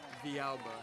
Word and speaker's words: Villalba: Villalba, is how you say it. Villalba.